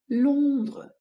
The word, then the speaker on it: Londres: Якщо ви ще не знали, слово Лондон, Лондон, столиця Англії, Великобританії, читається французькою Лондре. Лондра, Лондра.